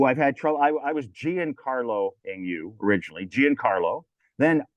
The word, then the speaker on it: Giancarlo: Like John, like run.